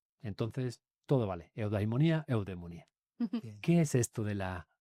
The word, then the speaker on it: eudemonía: Bueno, se escribe ahí, pero eudaimonía se escribía así en griego y en la rae aceptado con e porque en griego actual la a y la i se leen como e.